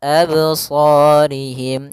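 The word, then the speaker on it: أبصارهم: Harusnya tidak boleh ya. dia langsung saja abs absorihim. Kemudian pada lafaz sh ada mad thabi'i dan shya harus kita tebalkan.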